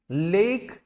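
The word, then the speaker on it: lake: लेक कहते हैं लेक, ऑन the pattern of neck. जैसे उर्दू का वर्ड हम नेक प्रोनाउंस करते हैं, नेक, ऐसे लेक, लेक, लेक। लेक का मतलब होता है झील, इसे लाख नहीं पढ़ना, यह है लेक, जैसे नेक, लेक।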